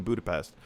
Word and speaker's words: Budapest: a dirt lot in Budapest. So, in case you didn't know, they're filming this movie in Budapest, or Budapest, as Black Widow would remind us is the pronunciation, revealing that this would be the future home of Mockingbird Lane.